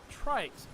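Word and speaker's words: Tryx: the brand new company trikes which made its public debut just this year and launched its Panorama liquid cooler Trikes and that is how you say it for some reason is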